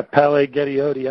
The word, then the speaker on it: Palaie Gaoteote: The second prospect we're going to discuss, I'm going to let you bring up his name and pronounce it correctly. He's very, very good, and he goes to Gorman. Yeah, Palaie Gaoteote.